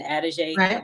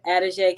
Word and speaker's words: Adige: Adige, which, I mean, I was just trying to see how to pronounce it, and Adige was the first thing that came to mind. So to put it all together, Adige came from God, and